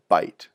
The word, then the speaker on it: byte: them together that's called a byte sounds like a mouthful of food but it's spelled with a Y and it refers to